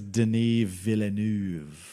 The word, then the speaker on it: Denis Villeneuve: I think it's Denis Villeneuve. You got to say it like French.